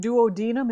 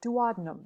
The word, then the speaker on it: duodenum: that's a strange-looking word duodenum is also an acceptable pronunciation but I think that sounds kind of goofy so I go with duodenum because it sounds more aristocratic duodenum how is your